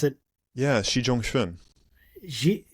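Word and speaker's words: Xi Zhongxun: Um so I can know how to pronounce it. Yeah. Xi Jang Schwin Xi Xi Jang Schwin like how did like how how did how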